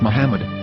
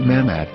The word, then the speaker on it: Muhammad: Ben yehuda's Hebrew English dictionary it is correctly pronounced as Muhammad not mmad so how we're going to know for sure